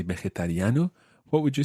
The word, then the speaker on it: vegetariano: And that phrase is, soy vegetariano. Soy vegetariano. Muy bien. It is quite tricky to say. Try that syllable by syllable. Ve. Ve. Je. Je. Ta. Ta. Riano. Riano. Vegetariano.